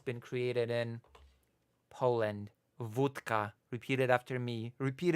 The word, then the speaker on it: wódka: If we accept that it's been created in Poland, wódka. Repeat it after me. Repeat it in the chat. Wódka. Okay? That's the proper pronunciation that you're gonna use now.